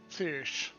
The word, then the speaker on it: Thiersch: I mangled that pronunciation earlier. Thiersch. Got it.